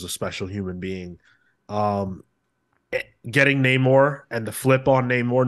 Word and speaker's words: Namor: I believe it's pronounced Namor now, Sean.